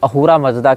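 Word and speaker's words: अहुर मज़्दा: अब ये स को ह पढ़ते हैं फारसी, सकार का उच्चारण हकार के रूप में करते हैं, इसीलिए अहूरा को आप असुर भी कह सकते हैं, असुर मजदा भी कह सकते हैं।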